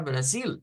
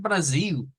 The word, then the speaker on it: Brasil: ahí tendríamos esa situación igual que la palabra Brasil decíamos miren Brasil cuando le decimos con l es más al acento europeo pero si quisiéramos o si estuviésemos en Brasil es donde más comúnmente nos dicen esto es Brasil aquí se llama Brasil donde cambia la L por la u entonces fenómenos como estos